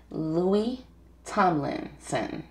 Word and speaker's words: Louis Tomlinson: Today we're gonna do, today we got a special guest, and his name is Louis Tomlinson.